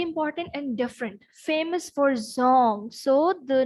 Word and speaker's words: Dzong: Okay, this is Zong with D, which is silent, and this is the name of the Buddhist monasteries.